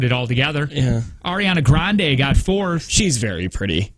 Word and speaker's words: Grande: all together yeah ariana grande got four she's very pretty swifty got fifth I'll take that man I feel weird saying that ariana grande or Ariana grandi which is how she pronounces it um a few weird